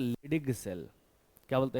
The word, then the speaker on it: Leydig: बीच वाला रीजन, इसे बोलते हैं इंटरस्टिशियल, लिखो इंटरस्टिशियल सेल, स्पेलिंग ये रीजन, ये इंटरस्टिशियल सेल। इसी का दूसरा नाम भी है, इसे बोलते हैं लिडिग सेल। क्या बोलते हैं? लिडिग सेल, LEYDIG, लिडिग सेल।